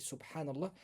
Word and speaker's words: subhanallah: Donc le premier c'est subhanallah.